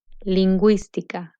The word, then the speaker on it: lingüística: G in combination with UE and UI, the U with diéresis is pronounced. Gue, bilingüe. Gui, lingüística.